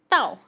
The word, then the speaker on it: 到: फिर है ताओ, following tone के साथ ताओ।